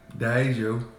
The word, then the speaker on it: Diageo: Hey Zeke, how do you pronounce Diageo again? Diageo.